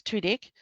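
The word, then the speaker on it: Tudyk: Um, apparently, um, how to pronounce Alan Tedik, which is Tudik.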